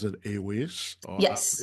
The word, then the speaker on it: AWIS: women in science um I will pronounce it awis or yes y That's how you pronounce the the shorten version awis all right so how do web and AWS